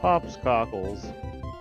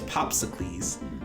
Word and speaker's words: Popsicles: what should I do pops cockles actually you're right I should be pronouncing your name properly it's popsicles popsic ask Hazard Professor